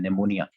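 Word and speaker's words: pneumonia: देख लेना है कि पी इसमें साइलेंट होता है निमोनिया, ठीक है?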